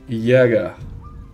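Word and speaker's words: Jäger: zulim azulim é o yagar se pronuncia yaga mas para nós aqui é jager jager Brincadeira Galera deixa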